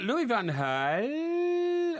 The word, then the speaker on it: Louis van Gaal: being good enough and now you're reacting uh louis van gaal and i make no apology for pronounce it like that because that's the way